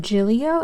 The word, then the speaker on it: Gillio: super super sweet she have this is it Giglio is how you pronounce it anyways it's this beautiful Tien and